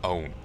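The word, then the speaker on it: Eoghan: And there's an Irish name, Owen. Do not ask me to spell it, though.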